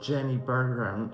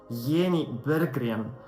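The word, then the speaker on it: Jenny Berggren: pronounce her name and it wasn't Jenny beran it was yenny beran wolf is going into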